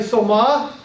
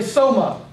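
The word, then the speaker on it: σῶμα: Look at soma. You don't say soma. You say soma because the accent is on the first syllable.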